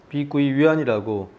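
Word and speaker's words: 碧桂园: 부동산에서 100개원이라는 회사가 있습니다 비구이 위안이라고 중국으로 발음을 하는데요 매출 기준으로는 중국 1위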